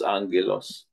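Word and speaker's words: ἄγγελος: sping po is agilos but it is pronounced as Angelos so itong Messengers na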